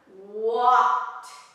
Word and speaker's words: walked: We have walked, walked. Strong, walked with a pronunciation of T, walked.